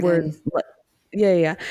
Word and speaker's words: Círdan: So you know how like we were saying that Círdan, word, Círdan. yeah, yeah. So it says the consonant C is always has the value of a K Oh, good to So know.